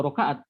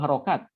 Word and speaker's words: harokat: Sri itu dua roka'at bacanya bukan dua roka'at dua harokat eh dua harokat mau